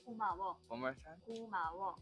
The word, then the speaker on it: 고마워: younger people, we say 고마워.